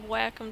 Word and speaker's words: Wacom: get me this expensive Wacom tablet and that is literally how you pronounce it w-8 uh c-o-m and uh they got